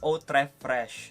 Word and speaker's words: Eau Très Fraîche: Eau Très Fraîche, and many commented that I pronounced it wrong. So I think this time I got it right already. Terre d'Hermès Eau Très Fraîche.